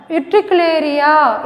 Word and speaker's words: Utricularia: Utricularia, it's commonly called bladderwort.